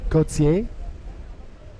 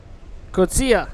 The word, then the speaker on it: Coetzee: The South African, Wesley Coetzee. Kotsia. Coetzee. I've been saying it wrong too. Coetzee. Kotsia.